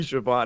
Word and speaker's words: Schiavone: was born I could promise you it's Tony Schiavone thank you I was confused for a second